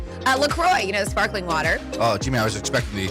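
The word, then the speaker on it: LaCroix: Officially, it's pronounced Lacroy. So, it rhymes with enjoy, not Lacqu or Lacro like the French might say it. So, it's Lacroy, Wisconsin, but it's spelled different, spelled C R O S S E.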